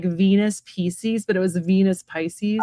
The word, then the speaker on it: Pisces: Well, in Latin, it is pronounced Pisces.